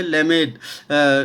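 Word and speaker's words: למד: जो है वो है लेमेद। लेमेद, लामेद है ना, हम है ना अलग अलग प्रोनाउंसिएशन है ना सुनते हैं, तो है ना लेमेद भी बोलते हैं और लामेद भी बोलते हैं।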